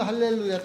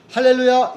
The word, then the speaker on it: 할렐루야: 숨은 할렐루야 찾기인데, 숨은 할렐루야 찾기, 이거 저학년도 똑같이 나와 있어요.